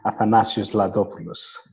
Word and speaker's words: Athanasios Ladopoulos: to make your task a bit more helpful athanasius lopus there you go ladies and gentlemen you I